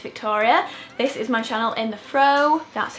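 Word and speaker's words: In The Frow: my name is Victoria this is my channel in the fro that's how you pronounce it by the way you know what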